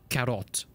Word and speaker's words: Korot: give them a name my name is korot but in uh in Imperial Garden when it's pronounced carrot now because this is